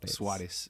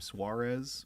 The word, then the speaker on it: Suárez: A lot of people pronounce the name Suarez, which is something that I have been trying to correct because it's not how it's pronounced. There is a accent in my name, and it's weird that